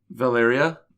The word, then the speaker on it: Valeria: Close on the pronunciation. Valeria? Yeah, there you go.